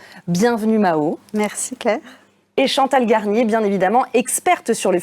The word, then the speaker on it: Chantal Garnier: Et Chantal Garnier, bien évidemment, experte sur le futur du travail chez Planning Strat Station.